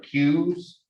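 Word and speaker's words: queue: uh we also have q's the really the odd spelling cube not c-u-e like the game of pool the uh that word where the u-e-u-e is silent when we read it in english uh a q and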